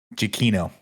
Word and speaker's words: Giacchino: Music in this one was by Nick Giacchino. And now we have looked into it. We went to Twitter. Mm-hmm. His Twitter in his bio says, my last name is pronounced Giacchino.